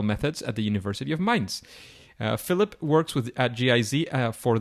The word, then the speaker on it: Mainz: He got his master's degree in economics and geography at the University of Mainz, or I don't know if I pronounced that right.